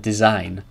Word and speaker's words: design: again my bad and design these are all examples when G is not pronounced okay be some alright